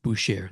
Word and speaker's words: Boucher: And it's Boucher. That's right. It's pronounced Boucher.